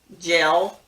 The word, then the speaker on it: gel: the problem is that we pronounce them the same take jail and jail we sometimes tend to say jail for both when it should be gel or gel and jail for j a i l j l has an